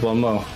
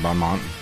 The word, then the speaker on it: bon mot: I don't think you took Bon Mo. She didn't take Bon Mont. Or whatever it is. Bon Mo. It's French. Yeah, whatever it is. Bon Mont, the English spelling of it. Or pronunciation of it.